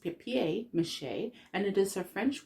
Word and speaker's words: papier-mâché: papier-mâché without understanding where the word deres from paper mâché is actually pronounced pep mâché and it is a French word literally meaning